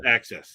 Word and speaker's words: AXS: concert tickets no this is axs it's ax pronounced access yeah i know it's the same oh is